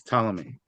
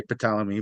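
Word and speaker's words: Ptolemy: mind that pomy is we don't pronounce the P it's talami I hope you'll tolerate if I say pamy by accident thank you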